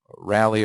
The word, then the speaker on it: Rayleigh: it is this is also known as a rally or Rayleigh depending on your pronunciation scattering thank you if